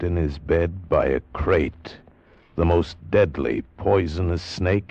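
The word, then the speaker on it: krait: First, the crate. You spell it K R A I T.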